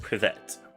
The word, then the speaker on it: Привет: And it's pronounced privet.